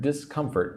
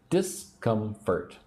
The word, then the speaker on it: discomfort: So say the word discomfort with me. Discomfort. Three syllables. Discomfort. Discomfort. Put the emphasis on syllable two.